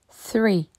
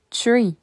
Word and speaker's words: three: faut pas le prononcer tree car tree en anglais c'est un arbre il faut que le bout de ta langue touche tes deux dents du haut three three four four